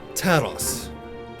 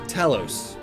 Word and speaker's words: Talos: Talos. Or Talos. Depending on how you want to pronounce it.